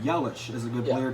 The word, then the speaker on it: Yelich: Yelich. Yes, Yelich. I mean, this is a good team. I don't want to diss on that team. That's a good team. Like he said, like Jared said, Yelich is a good Yeah.